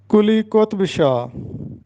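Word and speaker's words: قلی قطب شاہ: نام حاضر خدمت ہیں۔ پہلا نام ہے کلی قطب شاہ، یہ درست تلفظ ہے کلی قطب شاہ، ہم اس کو پڑھتے ہیں کلی قطب شاہ جو کہ غلط ہے۔ کلی قطب شاہ، قطب کا مطلب ہوتا ہے برگزیدہ، سردار، تو درست تلفظ ہوگا کلی قطب شاہ۔ کتاب کی جمع کتب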